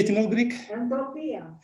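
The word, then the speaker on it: ἐντροπία: Entropia. Entropia, which means transformation, right?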